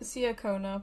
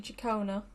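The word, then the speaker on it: Ciaccona: I keep saying Siakona, but it's actually Chacona.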